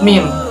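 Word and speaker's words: م: 24 adalah huruf mim. Pelafalannya ma.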